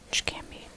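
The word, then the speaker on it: Çkemi: This letter right here can be pronounced as, when you say watch, it's the same sound as this, watch, or catch.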